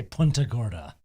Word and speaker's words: Punta Gorda: yeah, the Florida people say Punta Gorda. That's correct.